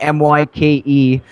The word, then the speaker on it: Myke: But it's Myke with a Y, Myke. is it's spelled exactly as it sounds, Okay.